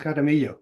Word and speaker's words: Jaramillo: Am I pronouncing it right? Jaramillo. Yeah, it's Jaramillo.